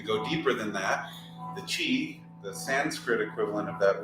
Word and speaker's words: Qi: their tributaries off a river and the name Chi uh spelled Qi so sometimes there's questions on how to pronounce it Chi is the life force that would be the